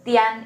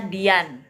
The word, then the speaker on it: tian: there Nah itu ya Pinyin Tian Ini bukan bacanya Dian ya teman-teman ya kalau a disandingkan dengan I dalam Mandarin a-nya jadi e gitu ya Dan kalau